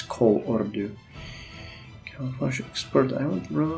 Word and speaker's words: Kolordu: to pronounce it properly, because it's easy to say it's Kolordu, but it's Kolordu.